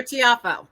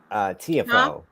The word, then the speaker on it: Tiafoe: Is it Tiafoe or Tiafoe? Well, you Americans say Tiafoe, but it's Tiafoe.